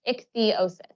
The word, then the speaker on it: ichthyosis: of my skin because I have ichthyosis it's pronounced ichthyosis it's not a sunburn or just dry skin